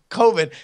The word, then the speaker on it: Coven: And these are two guys from Wisconsin, right, that are shooting a horror film that is spelled C-O-V-N, but they are insistent is COVID.